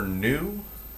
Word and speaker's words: nu: Now frequency is the symbol for frequency is the Greek letter nu. So this is an NU is how you pronounce that.